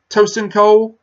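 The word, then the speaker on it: Tosin Cole: by I applaud as one get this guy's name wrong I think it's ocean cold is tio si n toastin Cole he's he's most famous for being in a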